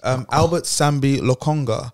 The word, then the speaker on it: Albert Sambi Lokonga: Albert Sambi Lokonga.